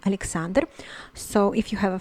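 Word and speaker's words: Александр: it is pronounced as alexander alexander mind that the l is softened here because it it is followed by the vowel em so it is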